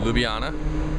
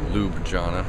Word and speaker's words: Ljubljana: i just got into ljubljana and apparently that's what it's called not lube jhana or whatever the hell and i gotta tell